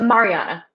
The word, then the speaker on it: Mariana: Um, Ailey does offer to use disguise self to let Iris see um, is it Mariana? Is that how you pronounce it? Mariana.